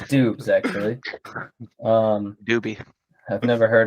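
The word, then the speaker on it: Doubs: Dobbs. That's it's Dubes actually. Doobie. I've never heard of him, and I Oh, pronounced really?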